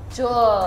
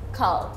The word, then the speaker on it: Kahl: Kahl. Oke. Karena nama belakangnya dari UK. Banyak orang yang sebutnya Jul Yes. atau Cool, tapi it's Kahl.